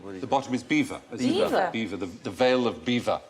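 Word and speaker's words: Belvoir: maning and bottom is B the bottom is beaver beaver the veil of beaver I am going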